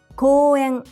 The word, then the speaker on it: 公園: 公園 park, 公園公園 The first two syllables, こう are not pronounced as こう but as こ with a long vowel, o.